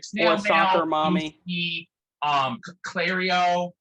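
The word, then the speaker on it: Clairo: just brought up, like Snail Mail, Soccer Mommy, Clario, how do you say her name? Claro. Claro.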